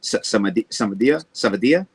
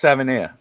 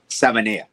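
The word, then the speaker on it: Savaiinaea: surprised with what Patrick Paul I can never pronounce his name. The guard that we drafted, Savadia. No, Jonas Savania. Savania.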